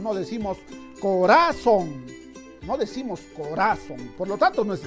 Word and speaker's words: corazón: es la palabra corazón dónde está la mayor fuerza de voz corazón parece que sí está en la sílaba son a ver tal vez esté en la que haber tal vez se ha estropeado el corazón no decimos corazón ya sea grave corazón